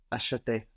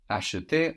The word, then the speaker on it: acheter: We said how this E that is very soft, acheter, can completely disappear in the two form acheter. But when that E is accented, no, it comes out in force.